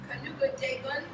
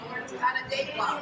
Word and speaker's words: Canandaigua: Cayuga Dagun, did I say that right? How do you say it? Canandaigua.